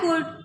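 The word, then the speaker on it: could: आई कुड have यहां कुड नहीं पढ़ेंगे। एल यहां भी साइलेंट है।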